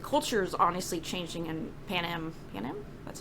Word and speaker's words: Panem: With, like, the culture is honestly changing in Panem?